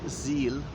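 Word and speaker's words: Sihl: also a smaller river called the zeal i hope i pronounced that correctly s i h l so um there have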